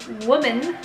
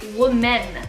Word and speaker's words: women: been trying to practice how to correctly pronounce women women women right women to pronounce woman see I say WA men but focus on like the men part women women so it's